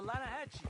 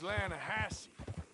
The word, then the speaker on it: Lanahatchee: The Lanahatchee. It runs right near here. Yeah, but it's pronounced Lannahechee.